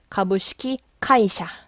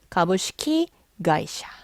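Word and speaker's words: 株式会社: 규칙에 적용을 받아요 그래서 가부시키 카이샤 아니고 가부시키 가이샤 근데 여러분 놀랄 필요가 없는게 여러분들이 발음을 실제로 해보시면 가부시키 카이샤 발음이 힘들어요 그렇기 때문에 가부시키가이샤 이렇게 발음을 순화시킨 거예요 스트레스 받지 마세요 이게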